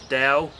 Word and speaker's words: Dao: um whilst reading the the one on on dao which uh someone corrected me on the last youtube video yesterday the pronunciation of that is dao and reading the the way of of the